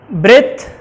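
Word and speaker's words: breathe: Pronunciation में थोड़ा सा डिफरेंट है कि ब्रेथ और ब्रीथ में डिफरेंस यह है कि प्रोनाउंसिएशन आपका इस तरह से होगा, ब्रेथ एंड ब्रीथ।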